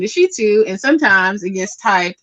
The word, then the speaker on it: Shittu: Okay, so my last name is Shitu. It's spelled Shittu. Shitu. And I like to tell